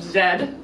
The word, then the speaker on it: Z: also a classic and the way the people in the uk pronounced it is the lost city of zed an expedition um trying